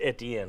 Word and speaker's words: Etienne: if you're from Louisiana and that's how you spell your name, it should be pronounced Etienne.